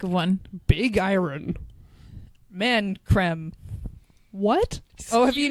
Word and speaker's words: Creme: It's spelt cream. They call it creme. Is it with like the two E's? It's Nivea creme. It's EME. So, Yeah. hold up. So that is pronounced creme. Yeah. One of these has a little hat on it, so you know. An accent. Goo. Creme. Or is Like it- creme fraiche. Yeah, like creme fraiche.